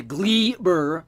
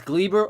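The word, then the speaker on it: Gleyber: try to mockery to glee burr torres there's no a in that name it is gleber or gleber but it should be pronounced cleaver according to my aunt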